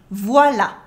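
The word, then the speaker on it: voilà: and it's done here the accent doesn't impact your pronunciation voila voila good it's short it sounds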